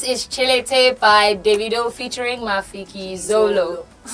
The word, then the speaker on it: Chilete: Is it Chelite or T Chelite? It's chili. I don't know, but the T is silent though. Oh. It's like Django and the. Oh, Yeah. Django. So this is Chilete by Davido featuring Mafiki Zolo.